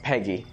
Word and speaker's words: PEGI: the pan-european game information PEGI is pronounced as Peggy so it's a European